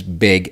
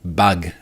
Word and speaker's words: beg: This is beg, as in begging, as in you're a beggar, as in someone begging for a bounty. This is not bug, as in there is